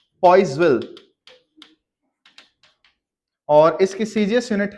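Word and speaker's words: Poiseuille: ये पॉइजवी बोला जाएगा, इसे पॉइजविल बोल देते हैं हम।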